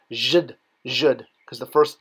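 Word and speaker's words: djed: the bottom of this stone column, pronounced zhd.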